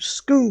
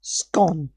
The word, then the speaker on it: Scone: She pronounce it how it's spelled. Yes. Basically what this woman has done is because it's spelled scone she's pronounced it scone which can I just